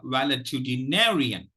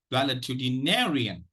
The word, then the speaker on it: valetudinarian: without any color coding the secondary stress is uh is lies on the first syllable well okay now let me pronounce it once or twice so that it becomes clear to you uh wellitudinarian wellitudinarian wellitudinarian okay so